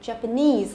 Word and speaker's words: Japanese: Nhớ lên lên trọng âm của nó rơi vào cái nese này, thế chưa nào? Đấy, rơi vào đây, Japanese, âm tiết thứ 3.